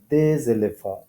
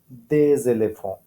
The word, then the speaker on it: des éléphants: So একই আবার একটু লিয়াজের ব্যাপার, pronunciation হবে এরকম des éléphants, des éléphants, des éléphants.